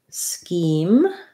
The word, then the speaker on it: scheme: wanted to know about scheme that just has the again here's another ch that says k so it's just like the word ski i'm going to go